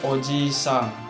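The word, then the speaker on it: お祖父さん: Sofu atau oji-san. Oji-san, i-nya 2. Oji-san. Jadi dipanjangkan. Bacanya dipanjangkan. Oji-san.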